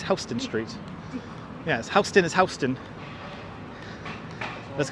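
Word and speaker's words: Houston Street: O'Brien oh that's there you go vessie is pronounced correct but hon is right hon yeah it's not Houston it's hon Street yes hon is HST let's go to Hon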